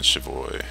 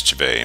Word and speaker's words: Chivay: Zoltan Chavoy. The dwarf, Zoltan Chivay, no, it's Chivay, my bad, I'm pronouncing it wrong the whole time, is a close friend of Geralt's and mine.